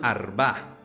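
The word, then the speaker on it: ארבע: caso en este texto que sería arba así se pronunciaría en hebreo la palabra cuernos está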